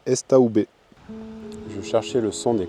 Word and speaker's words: Estaubé: Sur la route du Mont Perdu, Estobé vient du mot estive, pâturage d'altitude, prononcé estaoubé.